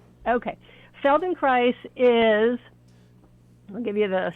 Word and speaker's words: Feldenkrais: So, um, tell me about this uh, Felden Christ. Feldon Christ. Did I am I pronouncing that correctly?